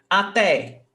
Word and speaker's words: até: So, até, 2 syllables, até. The last one is stressed, até.